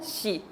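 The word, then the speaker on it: 씨: Como shi. Ese es su sonido, shi. Entonces, siempre que la S, ya sea esta S fuerte o la S más suave, si juntamos con la I, suena como shi.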